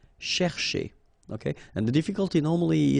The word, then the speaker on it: chercher: So this first part here, C-H-E-R, you will pronounce it quite open, so it's cher, cher, okay? And then here, just because you've got this ER at the end, okay? If you remember, the rule goes like ER at the end will be pronounced E, okay? So you get chez, all right? So chercher, chercher, okay?